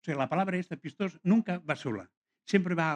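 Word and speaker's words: πιστός: Uno es el discípulo pistos, o pistos, depende de quién. Si es del griego antiguo, es pistos. Los modernos le llaman pistos.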